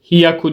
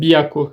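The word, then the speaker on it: 百: şimdi 5368 söyleyebiliriz goen 300 de bir istisna vardı hatırladığınız gibi hyaku değil de biyaku şeklinde söylüyorduk San biyaku saku 68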